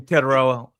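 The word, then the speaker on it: Tetairoa: Uh, you should have named him something better that I could pronounce. I'm calling him T from now on. Yeah. So, mama calls him Tedoa.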